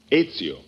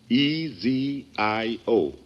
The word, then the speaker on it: Ezio: uh is is that the way you pronounce it that is right it's your how's that again ezio e z i o ezio p as in peter i n